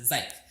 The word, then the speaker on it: Zach: It's Zach, but he pronounced it Zyke. Zyke said, then just call it that.